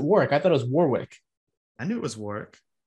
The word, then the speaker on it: Warwick: but but nick uh warwick davis was telling how to pronounce he's like it's warwick or it's work and they're like warwick he's like no drop the w they're like orwick he's like no not the first w actually that's maybe my problem